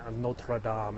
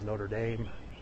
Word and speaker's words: Notre Dame: They also mocked us for pronouncing Notre Dame as Notre Dame. I explained to them the history of the Irish versus the French in the Catholic Church and how the Notre Dame was sort of taken as a way to get around the French pronunciation. And it's also kind of a way to differentiate between Notre Dame, which is in Paris, and Notre Dame, which is in Indiana.